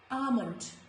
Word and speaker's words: almond: Before letter M also, letter L is silent, like almond. It is not almond or almond, it is almond, almond.